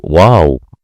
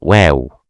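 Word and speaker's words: واو: Don't say wow. It's wrong. Say wow. It's so light letter.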